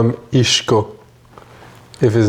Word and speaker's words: Isco: Cuz it's a Spanish nickname and as such I think there should be you pronounce it as a Spanish as a Spaniard. Isco.